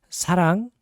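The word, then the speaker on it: 사랑: careful uh words like sarang which is to love it's not like but it's not wrong it's in between l and r sound so it's like it's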